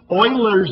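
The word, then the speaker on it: Euler: to show you how to build Sal Fields Oilers method that's the correct pronunciation um we're not even going to discuss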